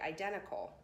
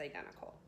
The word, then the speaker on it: identical: So I would just be talking to my friends and say identical. Notice I didn't really pronounce the T, so let's practice a few times. Okay, again the word is identical.